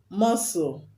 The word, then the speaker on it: muscle: w is also silent muscle m-u-s-c-l-e which later is silence letter c is silent and most times when